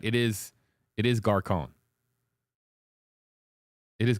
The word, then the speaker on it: Gascón: I don't know why I kept mispronouncing his last name. I just kept getting caught up in the accent. There's an accent on his name, and I keep mispronouncing it, and the accent is throwing me off.